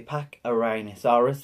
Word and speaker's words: Pachyrhinosaurus: So guys, I finally checked the name, and it is called the Pachyrhinosaurus. I was pronouncing it right.